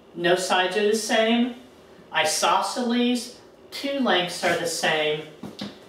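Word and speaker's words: isosceles: ago this is pronounced isoceles this is pronounced scaling isos okay isos triangle now what would you think an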